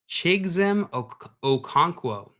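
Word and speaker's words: Chigoziem Okonkwo: And Dustin in here coming in with the pronunciation help here said Chigzem Okonkwo.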